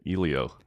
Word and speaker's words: Elio: I didn't even know that's how you pronounced it. Elio kept saying it. Elio. I was saying Elilio, too.